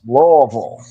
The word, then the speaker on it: Louisville: Deeds is all the way east, but I get corrected when I mispronounce Louisville when I should say Louisville. 13 and a half point favorites. Louisville.